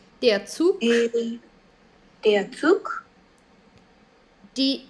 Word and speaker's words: Zug: Der Zug.